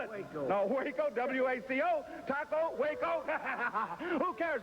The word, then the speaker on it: Waco: I mean, how do you spell it? Waco. No, Waco, W-A-C-O, Taco, Waco.